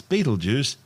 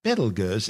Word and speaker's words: Betelgeuse: sting on orion's shoulder currently known as battlegirls commonly referred to by the public as beetlejuice don't say it three times the names of birth tortured mispronunciations of the original arabic name iptalyaza meaning the hand of the big man the big man being